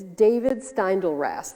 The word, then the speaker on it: David Steindl-Rast: In the foreword of his book, Living Buddha, Living Christ, Father David Stendhal, I know how to say his name. I'm subscribed to his blog. It's David Steindl-Rast, there we go.